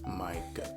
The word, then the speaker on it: Micah: It's Micah, like Micah.